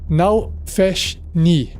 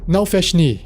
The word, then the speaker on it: Nalfeshnee: Por fim, o último demônio do cast de hoje é o Nalfeshni. Nalfeshni. Se escreve N-A-L-F-E-S-H-N-E-E.